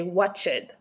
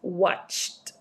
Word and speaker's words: watched: For my students who speak Spanish or French, they normally tend to say watched. Okay, no, it's watched.